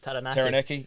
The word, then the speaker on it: Taranaki: So Taranaki, am I pronouncing that correct? Taranaki.